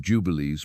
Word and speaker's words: Jubilees: One of their central texts, the Book of Jubilees, pronounced Jo-Ju-O-B-Lees, fiercely attacked the lunar calendar and insisted